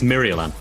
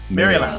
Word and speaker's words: Mirialan: It's Mirialan. Mirialan. Marillion. Thank you. I was about to say there's an extra A in there, so Mirialan. I keep saying Marillion because I spell it wrong every time I write it down.